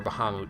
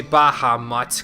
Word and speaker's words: Bahamut: that's where we'll go or Bahamut depending on how you say it just don't say Baha mots cuz that's a completely different enemy there are none who